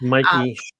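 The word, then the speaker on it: Mikie: And right now, um, Charerelle, how do you say Mikey? Mikey or Mickey Charelle? It's Mikey. Mikey Cheryl.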